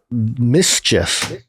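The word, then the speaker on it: MSCHF: Mischief, spelled without the any vowels.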